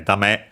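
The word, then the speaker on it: だめ: Dame is an adjective, which means, well, we check its accent first and foremost. Okay, dame, as I remembered, on the last syllable, and it's accented, not unaccented, because it could sound the same.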